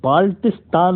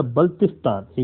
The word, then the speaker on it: बल्तिस्तान: ये बाल्टिस्तान नहीं है, इसको बाल्टिस्तान प्रोनाउंस किया जाता है। इट्स नॉट अ बाल्टिस्तान, इट्स अ बल्तिस्तान।